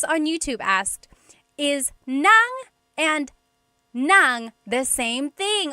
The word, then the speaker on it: nang: Uh S on YouTube asked, "Is nang and nang the same thing?" Oh my gosh, I love this question. So, there are two types of nang in Tagalog. N a n g nang and then ng nang.